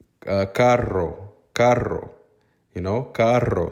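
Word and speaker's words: carro: r r o Caro that double r needs to be rolled a lot of times the Costa Ricans don't roll that they say it like it's not rolled but it doesn't sound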